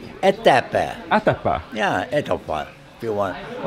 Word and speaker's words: Etapa: Etapa. Atapa. Yeah, Etapa. If you want. Okay. They pronounce it many.